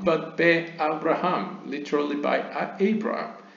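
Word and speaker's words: בְּאַבְרָהָם: Do not pronounce it Behibaram, but Be-Abraham, literally by Abraham, spelled with the same letter.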